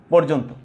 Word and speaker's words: পর্যন্ত: যেমন আমি একটু উদাহরণ দেই তোমাদের, দেখো, পর্যন্ত, এটা হবে পর্যন্ত। আদ্যটা উচ্চারণ পেয়েছে কার মতো? উকারান্তর মতো, যদি এটা উকারান্ত হওয়ার কথা নয়, তারপরেও কিন্তু হয়েছে।